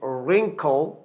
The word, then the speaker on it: wrinkle: अच्छा, इन वर्ड्स के अंदर भी आपने देखा कि wrinkle W R से पहले साइलेंट है और W बोलने में नहीं आएगा, W लिखेंगे, sound will remain same, wrinkle यानी W बोलने में नहीं आएगा.